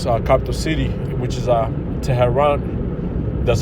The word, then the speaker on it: Tehran: All right, okay, them small hot, okay, just attacked carried out attack on Iran, its capital city, which is Tehran.